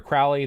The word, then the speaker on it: Crowley: Now, Aleister Crowley, or Crowley, depending on how it's pronounced, he has his Book of the Law, which is Ergi.